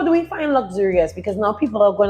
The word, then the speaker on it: Locsurious: So, for one, everybody kind of pronounces this luxurious wrong. Oh my bad. Because it's it's spelled L O C S. Yeah. U R I O UF, right? And it's not luxurious.